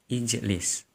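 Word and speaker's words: اجلس: Kemudian mensukunkan huruf pada akhirnya. Jim sukun lis. Karena fa fi'ilnya tidak bisa dibaca, maka berilah hamzah wasal sebelum fa fi'il. Maka cara bacanya ijlis, duduklah.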